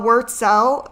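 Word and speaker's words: Wurtzel: minutes we'll just wait okay fine Elizabeth uh word cell w-u-r-t-z-e-l published in 1994.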